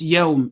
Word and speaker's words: Yawm: Over here, Yawmiddin is the most mispronounced pronunciation. No, Yawmiddin. It's Yawm. It's a gliding vowel.